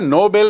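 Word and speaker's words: Nobel: तो आपको स्पष्ट याद रखना चाहिए कि नोबल मतलब नेक, नोबल मतलब उच्च श्रेणी का, और नोबेल एक व्यक्ति का नाम जिसके नाम से पुरस्कार है।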